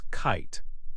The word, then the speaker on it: kite: We can see this again with the word kit. The vowel I in kit makes a short sound. If we add an E to the end, it becomes kite. Again, the E is silent, but it makes the I say its name, I. The short I sound changed to a long I sound.